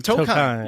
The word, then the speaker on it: Tokheim: And then I have Tolcom. How are you? I'm doing really well. Is that how you say it, Tolcom? Tokheim. Tokheim.